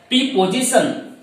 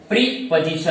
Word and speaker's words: preposition: कुछ लोग इसे प्रीपोजिशन ऐसा प्रोनाउंसिएशन निकालते हैं, लेकिन ये सरासर गलत है, क्योंकि इसका जो प्रोनाउंसिएशन, जो करेक्ट प्रोनाउंसिएशन जो होता है वो होता है प्रीपोजिशन।